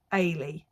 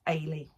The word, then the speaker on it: Ailey: So it is Ailey. I keep wanting to say Elay, but it's Ailey.